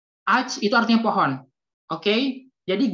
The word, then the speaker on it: ağaç: Jadi G bertanduk itu nggak dibaca. Jadi langsung aja alj. Ağaç itu artinya pohon. Oke? Jadi G bertanduk itu nggak dibaca. Jadi langsung aja ağaç. Ağaç itu artinya pohon.